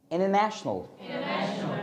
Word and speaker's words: international: यानी कि इन सारी जगहों पर टी के साथ क्या होगा भाई? साइलेंट। लाइक अब सुना, international, international, international.